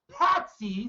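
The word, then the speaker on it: pasty: Right, and remember, lords and ladies, it is pronounced patsies.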